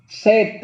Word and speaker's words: said: Said itu kan SAD. Kalau said itu dari kata say. SAD itu apa? Kalau SAD itu sad, sedih. Kalau ini said. Bacanya said. Iya, dari kata say, SAY.